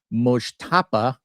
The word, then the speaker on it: Mojtaba: So, anywho, the headline: Trump briefed that Iran's new supreme leader, Mojtaba, as I've learned to pronounce it, Khomeini, is probably gay.